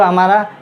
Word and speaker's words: whom: हक़ दिखाना, पोजीशन दिखाना, कब्ज़ा दिखाना, उसके लिए हम हुज़ का इस्तेमाल करते हैं। हुज़ जो हमारा पॉसेसिव केस है, हु का पॉसेसिव केस है।